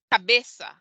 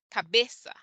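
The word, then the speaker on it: cabeça: cajo and caro but when the sigilia comes before the a it sounds like an s as in cabeza which means head cabeza we get that soft s sound and also abraso which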